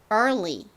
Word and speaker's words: early: EAR이 여기서 발음으로 쓰여서 early 이렇게 발음됩니다.